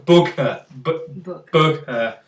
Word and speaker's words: bokeh: Bokeh. Like that. You've got to pronounce like bokeh.